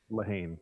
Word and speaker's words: Leehane: Leehane. Leehane. Nice. Leehane is fine. Yeah. Leehane. The Lassie is silent, just like me.